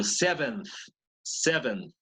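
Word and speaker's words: seventh: Pero 7th con la TH al final, ¿no?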